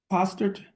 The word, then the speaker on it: Postard: Texas versus Lindsay Danielle postard or postered would you please come okay Miss Lind is your last name pronounced poster okay uh Miss postard would